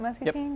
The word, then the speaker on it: Muscatine: Muscatine?